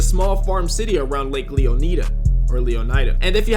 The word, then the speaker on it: Leonida: But Mizzly is pronounced Leonida. Kiss my ass, it's Leonida.